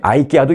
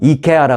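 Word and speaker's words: IKEA: 선거 당일인 오늘 아이키아 매장을 방문하는 고객에게, 그리고 참고로 한국에서는 이케아라 그래요. 이케아. 왜냐하면은 이케아 이제 핀란드죠. 여기가 아마 마더 컴퍼니가 그쪽 발음으로 한다고 해서 이제 한국에서는 이케아라 그러고, 미국에서는 미국식 발음으로 한다 그래서 이걸 또 꼭 아이키아라고 하죠, 우리는.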